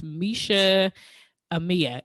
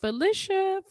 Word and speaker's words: Meisha Amia: I am here with Miss Meisha Amia. Did I pronounce that right? Yes, you did. You got it. Come on. Yes, I know. Listen, when people see my name, they always like, is it Felicia?